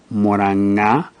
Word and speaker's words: Mũrang'a: Now N can also be prefixed again with the G but you put an apostrophe after the G and the sound becomes nga, nga, like in the word moranga or in the name nganga. Now, J is never written